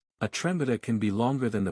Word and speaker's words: трембіта: Its Ukrainian name is trembita, written and the stress falls on the second syllable, trembita. The instrument is strongly